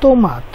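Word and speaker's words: tomate: ওকার দিয়ে একটা শব্দ দেখতে পারি, এখানে আছে কি তোমাত অর্থ টমেটো। তে ও হয়েছে তো, ওকার দিয়ে যেটা তো এম আম তে ও, তাহলে তো মাত।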